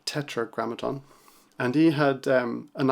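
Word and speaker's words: Tetragrammaton: Rick rubin's podcast um Petra grammaton I think it's pronounced sorry Tetra grammaton and he had um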